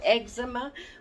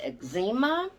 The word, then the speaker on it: eczema: I was a kid, we didn't call it eczema. We called it eczema, is the way it was pronounced. That's the way the doctors pronounced it. It was eczema.